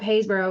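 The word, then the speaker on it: Happisburgh: look up the picture if you look up hayborough which is spelled basically if you were to say it hausburg um and there's sites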